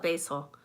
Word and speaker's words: basil: guess that's about it you call it basil I call it basil and um Liz corrects me because it's not supposed to be pronounced that way apparently in England it's just one of